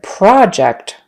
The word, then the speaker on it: project: project versus project so we've got project is the noun have you completed your project and project project is the verb I need to project my handout on the wall so everyone can see it okay project project and again since the first syllable is no longer stressed in the verb the vowel turns into kind of a schwa a short U pro project I need